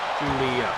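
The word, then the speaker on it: Giulia: How to pronounce Guilia? Yeah. WWE. Guilia.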